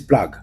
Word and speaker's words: plug: tout Plag tout Plag qui s'écrit avec P l u g P l u g plug pour les anglophones mais sinon les Américains disent plague le c'est tout Plag